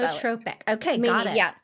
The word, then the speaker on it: pleiotropic: I Pleiotropic? I say it like that because I'm never quite sure how to say it. So That it's works. PLEIOTROPIC, Okay. I believe is how you spell it. Pleiotropic.